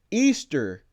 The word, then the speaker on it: Ishtar: It says, this is Ishtar, pronounced Easter.